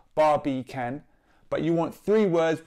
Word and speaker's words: Barbican: with can as in barbie can as a three syllable well it's not three words but it's three syllables bar b can but you want three